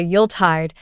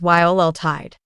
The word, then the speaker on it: Yuletide: Some people say Yuletide with too much emphasis on the second part, but the correct pronunciation is Yuletide. The Yule part should be smooth and quick.